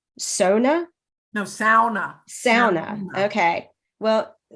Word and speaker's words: sauna: or as we're told in the novel is pronounced Sona no sauna sauna okay well the book that